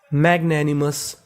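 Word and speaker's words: magnanimous: इसे क्या पढ़ना है मस तो पूरी मीनिंग मैग्नेनिमस मैगनेमस मैग्नेनिमस मैग्नेनिमस का मतलब होता है उदार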